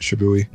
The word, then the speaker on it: SHIBUI: So her favorite track is SHIBUI. Is that how you say that word? Yeah, I would agree. That's how you say it, SHIBUI.